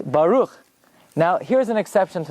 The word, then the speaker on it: Baruch: called up to Torah and they say they mispronounced every single word but it's not Baruch it's Baruch it's not Atta ATA it's not Hashem it's